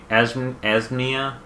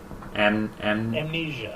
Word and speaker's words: Amnesia: And Asmnia is also another one that I've played. The Dark Descent. I probably am pronouncing it wrong. Amnesia. Amnesia.